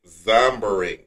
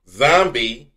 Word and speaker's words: zombieing: What is zombering? Zombieing. What? Zombie with an ing at the end. Can you just pronounce it correctly? What is it? Oh, that's the correct pronunciation.